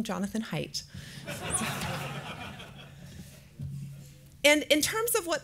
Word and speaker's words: Haidt: I've learned the preferred pronunciation of my board chair's last name, Jonathan Haidt.